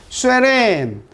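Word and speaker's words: Søren: 요거는 요렇게 돼 있는 거나 또는 요렇게 돼 있는 거 또는 요렇게 돼 있는 게 다 독일어나 동유럽 쪽, 네덜란드어나 덴마크 언어에 오의 우리말 발음으로 왜 발음입니다. 왜. 요 발음 나는 거야. 알겠죠? 쇠렌.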